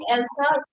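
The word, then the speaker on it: Else: Remind you, I'm speaking Elsa. Do not write it last word A. Okay, because I'm pronouncing it like the way it's pronounced, not the actual spelling.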